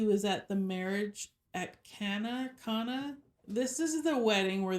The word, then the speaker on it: Cana: said that he was at the marriage at Cana.